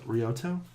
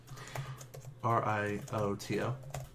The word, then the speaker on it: Rioto: Rioto. R-I-O-T-O. Rioto? Of the Scorpion? Oh, shit. Need to write this down. Okay. Oh, right, yeah. All right. So, spelling again. R-I-O-T-O.